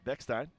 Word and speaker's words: Beckstein: far here today as Luke Beck beckstein trying to put an extra syllable in that young man's name Luke one for four